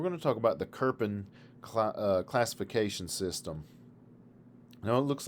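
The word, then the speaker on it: Köppen: pronounced the same way i know there's no r there and that's strange to us as native english speakers but that's the way it's pronounced as kerpin all right let's talk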